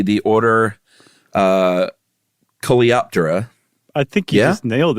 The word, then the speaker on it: Coleoptera: I'm going to say the order Coleoptera. I think you just nailed it, Chuck. You just won the pronunciation party.